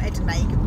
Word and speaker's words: edamame: Hopefully we'll go to Wagamama's, but I just think I might have some like Adami beans or Edamame beans, as you pronounce it, and they're free on Slim World.